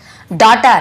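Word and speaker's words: daughter: डॉटर, यहाँ पे देखिए डाउटर या डॉक्टर कुछ नहीं पड़ेगा, डॉटर, जी साइलेंट होता है, डॉटर। यहाँ पर भी नॉटी, जी साइलेंट होता है।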